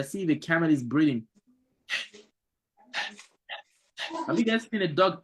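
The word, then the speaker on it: ح: So the ha will pronounce with the mouth, kind of like you release the throat and let some air breathe out from it.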